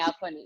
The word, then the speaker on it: Axone: I watched Akuni or Axon. Is that the right way to say it in Akhone, English? Akhone.